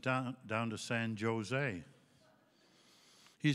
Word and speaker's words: San Jose: I said, down to San Jose. He said, you a hockey player? I said, yeah, how did you know? Well, he said, stupid. California, you don't pronounce a J. It's San Jose.